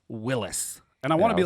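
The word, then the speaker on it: Willys: same spelling go ahead tell me the pronunciation which is willis willis willis is correct so you both with a with us i will always say willie's um i'm sorry and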